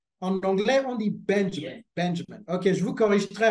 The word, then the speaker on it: Benjamin: Donc, je disais, la prononciation, c'est Benjamin.